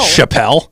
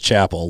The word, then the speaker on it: Chappell: Yeah, I just I saw her pronounce it on something. It is Chapel.